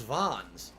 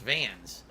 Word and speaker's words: Vans: wasn't into the culture oh is it pronounced vans you don't even know i thought it was vons i guess pronounced vans okay yeah i wore